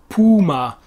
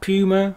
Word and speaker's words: Puma: found the rival company puma not puma as we say in english puma it's the same animal but it's a different pronunciation in german then of course we